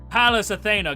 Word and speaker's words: Pallas Athena: Palace Athena, god of wisdom, warfare, handiccraft, guardian of heroes, protector of Athens and the silliest boy in all of Olympus.